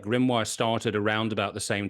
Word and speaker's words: Grimoire: So the record label that you're releasing your music on, if I pronounce this correctly, is Grimoire.